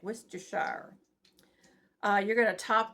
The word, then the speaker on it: Worcestershire: I said it right, Worcestershire.